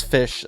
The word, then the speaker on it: Ghoti: like we're getting the goatee support that's confirmed right we're getting the goatee you can also pronounce that as fish I'm gonna say goatee I know a lot